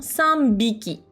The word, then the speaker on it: 三びき: On va le prononcer plus naturellement, sanbiki.